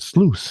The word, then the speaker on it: sluice: to say yep and which is odd because it's spelled just like juice except juice isn't that fun but sluice is fun to say